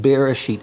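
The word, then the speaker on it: בראשית: This is the word in Hebrew, is Bereshit. Okay, that's how you say it, Bereshit.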